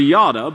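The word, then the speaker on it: ידע: and by the way, this word is pronounced actually Yada, but it's not like the word they translated Judah.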